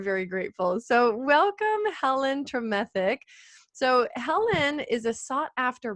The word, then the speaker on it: Tremethick: I'm Helen Tremethick.